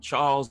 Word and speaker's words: Chas: Well, it's just think of CHAS as an abbreviation for Charles.